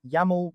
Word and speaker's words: YAML: This is the space where you'll paste your YML, pronounced "YAML", workflow configuration script.